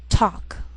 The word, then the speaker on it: talk: she'll it'll wheel veil sometimes L can be silent so you have to be careful the first five words